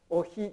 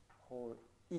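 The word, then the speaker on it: οἱ: だからおひではなくてほいと読む。こちらが正解。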